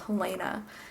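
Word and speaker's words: Helena: Lena because my mom's name is helaina and she doesn't like to be called Helana she likes to be called helaina so I've really insulted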